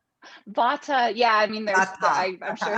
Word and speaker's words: vata: out i'm vada 50 vada did i pronounce it right vata yeah i mean i'm